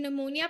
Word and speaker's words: pneumonia: word will be pneumonia in pneumonia p is silent okay then the next